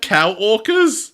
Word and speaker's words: Kamemon: Oh, They have cow orcas? that's Kamemon. Is it They have cow orcas. cow orcas? Well, it's spelled co-worker, but it's Oh, pronounced cow orca.